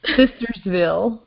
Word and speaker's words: Sistersville: Sistersville. Sistersville. I don't want to say Scissors.